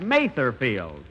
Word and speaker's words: Mather Field: Mother's Day and where's mother fields that's that Mather field and although I pronounce it wrong last week on them and